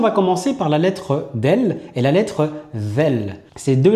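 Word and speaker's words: دال: Commençons par la lettre del. La lettre del s'apparente au D en français.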